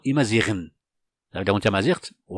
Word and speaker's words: Imazighen: Bien sûr, ici, j'ai pas utilisé le jas, c'est pas la peine, parce qu'on va pas dire Imazigen, non, Imaziren.